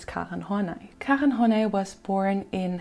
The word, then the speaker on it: Karen Horney: And yes, you can call her Karen, but in German we pronounce her name as Karen Horney.